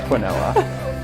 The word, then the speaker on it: quinoa: Pronounced quinoa.